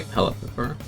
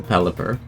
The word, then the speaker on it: Pelipper: gets walled by a pellet pepper or no wait uh i pronounce it that way again a pelipper belly pepper yes baked pepper-shaped mouth indeed man i feel like i used to always call them bella peppers until i actually learned to properly read the